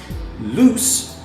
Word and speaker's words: loose: difference in the pronunciation loose the adjective ends with the sound s loose and lose ends with the sound zum-zum so there's also a